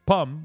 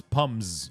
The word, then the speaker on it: pommes: You don't pronounce pommes. You don't add an S at the end. You just pronounce it the same way, even if there's an S in plural.